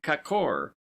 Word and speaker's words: kakor: word, as kor, gorges, pronounced as though written kakor, the a having the sound of a in sofa, lions, dodon.